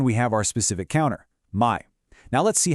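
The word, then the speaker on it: 枚: And that counter is my, pronounced my.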